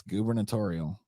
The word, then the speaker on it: gubernatorial: know I know that's that's actually how that's supposed to be pronounced funnily enough you would think it would be like gubernatorial but it's no it's gubernatorial you can look it up